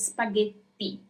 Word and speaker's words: spaghetti: So you really have to make it sound like there is a double T. So it's spaghetti.